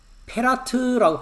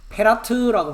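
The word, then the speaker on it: פרת: 페라트라고 발음합니다. 자, 6,578번을가 보겠습니다. 예, 페라트라고 바르는 말합니다.이 페라트라고 하는 단어는 유브라데가 아니라 여기도 돼 있죠.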